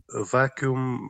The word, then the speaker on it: vacuum: they go into La La Land no but vacuum actually lowers the boiling temperature of a liquid